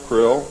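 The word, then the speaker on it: Krlll: name and title was his omnipotent highness krill pronounced krill spelled k-r-l-l-l or c-r-l-l-l in the american tradition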